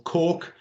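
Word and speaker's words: coch: word glass for blue cork yeah or cork is as close as we can get it with using an english word for red um d for black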